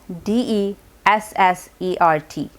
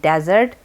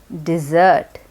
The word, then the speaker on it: dessert: that word spelled it's spelled with two s's d e s s e r t and it is pronounced differently too it's not pronounced desert it's pronounced dessert dessert so this sentence will correctly become what